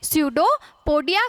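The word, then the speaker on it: pseudopodia: स्यूडोपोडिया कहा जाता है। ये जो पी है ये साइलेंट मान ले आप, ठीक है।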